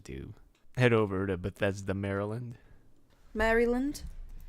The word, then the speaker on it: Maryland: that what it's called well no cuz you say it like Mary you said it's adorable but because it's named after Queen Mary right Henrietta Maria you say it like um I'm sorry you say it like Mary is and Merry Christmas no that's how you